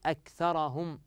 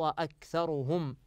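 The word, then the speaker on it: أكثرهم: من الكلمات فاعرض اكثرهم من خطا ان نقول اكثرهم حيث الخطا يقع في فتح الراء والراء كما في هذه الايه مضمومه فالصحيح فاعرض اكثرهم فهم لا يسمعون وقالوا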